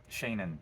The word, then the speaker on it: Shannon: can probably tell that my name should not be pronounced Shannon. It should be Shawneen. It's like little Sean. My parents never called me that, so I never call myself that. Uh, Shannon, that's how it's pronounced.